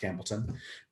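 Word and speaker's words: Campbeltown: campbellton or campbelltown spotlight campbelltown pronounced campbellton uh and there it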